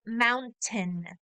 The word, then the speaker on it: mountain: but the way that you will hear this pronounced in English is mountain mountain so it often sounds like it has